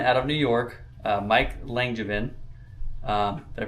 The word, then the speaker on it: Langevin: And it is a gentleman out of New York, Mike Langevin. Did I pronounce that right?